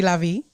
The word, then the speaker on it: LaVie: Did I pronounce that right? Absolutely. Mm-hmm. Or you could say LaVie. I LaVie.